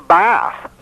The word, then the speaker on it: Beth: It means a bath. So what does it say in Psalm 119 right behind Beth? Or Bath is the proper pronunciation.